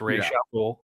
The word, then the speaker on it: Ra's al Ghul: The one thing that I still get irritated by this film is the Ra's al Ghul pronunciation. It is Ra's al Ghul. That's what Denny says.